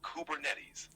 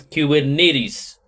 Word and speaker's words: Kubernetes: running smoothly is it kubernetes or kubernetes it's pronounced kubernetes the name comes from the Greek word for Helmsman or Pilot which is fitting since kubernetes help steer and manage application okay it means that it is kubernetes yes that's right kubernetes is how you say